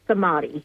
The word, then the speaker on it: Samadhi: So yeah, it's Sami. Sami. So it's the middle it's the middle syllable that's the emphasized one.